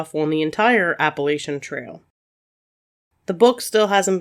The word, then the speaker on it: Appalachian: indian tribe and so i think the proper pronunciation is appalachian but it kind of depends on where you're from where i'm from we say appalachian so that's how i'm going to say it the appalachian mountains themselves